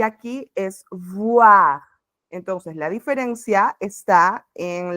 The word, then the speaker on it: voir: para boire, son solo los labios superior, el labio superior y el labio inferior se tocan para hacer el sonido. Entonces, voir, boire. Es súper importante porque si quiero decir que veo, no puedo pronunciar que bebo, ¿no?